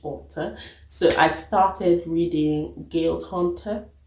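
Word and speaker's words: Guild Hunter: so i started reading guilt hunter that's how she pronounces guide hunter and um the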